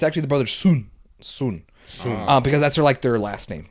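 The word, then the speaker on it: Sun: TV show Netflix exclusive it's called the brother's son oh yeah I remember apparently I mispronounced it was called the it's actually the brother soon soon soon um because that's like their last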